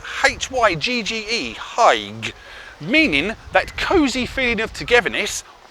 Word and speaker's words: hygge: Now I will spell it out for you. It's H-Y-G-G-E, hygge, meaning that cosy feeling of togetherness, or that cosy feeling of being by oneself.